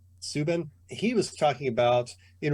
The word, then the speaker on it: Subban: last night, PK Subban, I think you say his name. Subban.